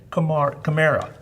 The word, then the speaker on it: Camara: So it's like the Camaro, but with an A at the end. Camara.